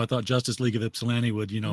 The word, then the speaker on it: Ypsilanti: thought Justice League of ipsilanti would you know most people pronounce it Ypsilanti like you like that's kind of the marker of someone who knows what they're talking about when they call it ipsilanti yeah well that's like